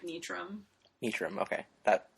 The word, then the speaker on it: Nitram: So yeah, so this is Nitram. Nitram? Technically the rule is pronounce it however you it's following totally straightforward, like, English pronunciation, but, like, I say it like Nitram.